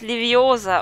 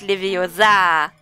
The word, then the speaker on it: Leviosa: Du hast die falsche Betonung. Das heißt Leviosa und nicht Leviosa.